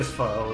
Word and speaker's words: FOE: Yeah, someone here earlier said like the way you say foe is really funny. It's like that's actually how you say it is foe.